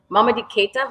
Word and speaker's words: Mamadi Keita: So first, the music comes from, I'm going to say his name correctly, Mamadi Keita, who just recently passed.